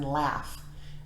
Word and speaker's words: laugh: and then we have gh can also say as in laugh the ghost laughs is